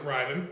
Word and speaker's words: Raiden: he had he had Raiden who ran around naked just covering his junk doing normal people pronounce it Ryden but right whatever whatever